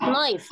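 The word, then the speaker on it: knife: في كلمه كمان كلمه ونخلي بالنا ان الكيمه بتتنطقش لان بعديها ان وقلنا اي كي يجي بعديها ان ما بتتنطقش زي كلمه نو يعني يعرف الكلمه بتتنطقش كلمه نايف يعني سكينه ما بتتنطقش الكيه لما بتشوف وراها حرف الان بتنسى هي مين اساسا وما بتتنطقش فكلمه فكلمه فكلمه نيتنج يعني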